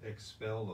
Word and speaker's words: XPEL: bit about our sponsor expel of san antonio and that's x-p-e-l that's how it's spelled with an x at first and then p e l and they do automotive